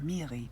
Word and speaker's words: Miri: at home are fights it sounded like she pronounced it miri with a hard r in the early earth